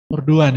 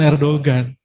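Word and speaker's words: Erdoğan: Erdogan ya, bukan Erdogan. Nek cara wong Jawa Erdogan. Dogan. Tapi ternyata cara bacanya Erdogan.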